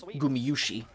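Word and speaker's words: Gumayusi: been pronouncing it like as an english speaker we would say you see but it's gumiyushi i'm just kind of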